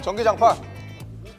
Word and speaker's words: 전기장판: 전. 기. 자. 반. 어, 잠깐. 저 발음이 틀려. 와! 발음이 틀려요.